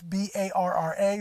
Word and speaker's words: BARRA: It's B-A-R-R-A, BARRA.